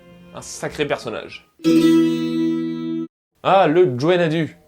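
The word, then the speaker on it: Gwenn-ha-du: Ah, le Gwenadu. Oui, je prononce comme ça. On peut dire Gwenadu, mais ça n'est pas mon accent.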